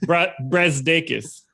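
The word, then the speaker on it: Brazdeikis: Brazdakis.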